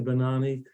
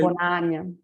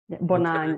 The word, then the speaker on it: Bonany: those of you that have never met Bonany. Is that how I pronounce it correctly? Not really. It's like Okay. Bonany, but because Bonany. Bonany, Okay.